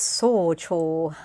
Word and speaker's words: 早朝: Is this socho? I know what it means. It means early morning, but how do you pronounce the dang thing?